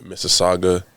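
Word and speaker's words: Mississauga: spell it okay uh so I'm from Miss Saga that's in Ontario Canada and the spelling is m i SS a u g a okay no I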